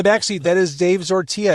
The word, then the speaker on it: Zortea: In the back seat, that is Dave Zortia. It rhymes with tortilla.